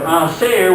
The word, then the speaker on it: hacer: It goes from hacer with an S sound to co if it were a C with a K sound.